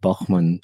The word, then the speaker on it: Bachmann: My parents will be very excited to hear the pronunciation of Bachmann as it should be pronounced.